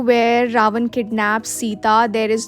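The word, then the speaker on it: Sinta: we have so here C इज not pronounced as सीता इट्स सिंता the spelling that we have in इंडिया इज एस आई टी ए बट in Bali it's एस आई एन टी ए आई एम not gonna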